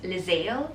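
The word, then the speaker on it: Liezeil: i'm not getting my full first name is lizzel they spelled as l-i-e-z-e-i-l it's apollodromes but most often than not people couldn't pronounce it properly hence i tell them that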